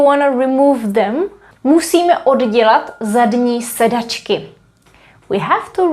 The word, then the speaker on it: oddělat: We write double D here. And that simply happened because we have the verb dělat, which means to make and do, and then we add the prefix od. So that's how we ended up having double D, but we have to pronounce it oddělat, oddělat.